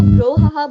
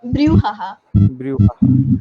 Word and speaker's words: brouhaha: होती है BROU मतलब बहुत सारे लोग इसको brouhaha बोलते हैं, but it is not bro, it is brew, BREW। अगर हम लोग उसको प्रोनाउंस करते हैं, it is like BREW, मगर वैसे इसकी एक्चुअल स्पेलिंग है BROW, ब्रूहाहा। अच्छा रिमशा मैं आपको डेयर